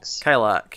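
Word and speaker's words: Kilaak: Kilak, yeah. That's how you pronounce it.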